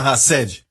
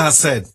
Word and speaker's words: hesed: linda na Bíblia chamada rassd diga rassd h a s s e d no nosso português assim se escreve rassd certo rced é uma palavra que